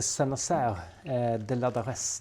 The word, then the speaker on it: Saint-Nazaire-de-Ladarez: Hur var det man uttalade by nu igen? Vi bor i en liten by som heter Senas eh de Ladares.